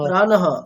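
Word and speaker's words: প্রাণঃ: এটা শুধু প্রাণহ প্রাণহ শব্দের যে বিসর্গ সেটা কিন্তু বিসর্গের উচ্চারণটাই হবে বিসর্গের উচ্চারণ আমরা কেমন শিখেছি হ এর মতো হয় তাহলে প্রাণহ বিসর্গের যেটা পূর্ণ উচ্চারণ হয় স্বাভাবিক যেটা উচ্চারণ সেটাই হবে আচ্ছা আচ্ছা ঠিক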